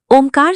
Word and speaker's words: ओम: ये ओम 3.5 अक्षरों का विनिर्मित है। ओ, ऊ, ऊ। ओम के उच्चारण में जो अर्धबिंदु लगा है, इसे चंद्र बिंदु अथवा अर्धमात्रा कहते हैं। उसे आधा अक्षर माना गया है। इस प्रकार 3.5 अक्षर का मंत्रराज यों कहलाता है। इसका उच्चारण कंठ, ओंठ, मुख, जिह्वा से होता है, पर इसका बीज कुंडलिनी में सन्निहित है।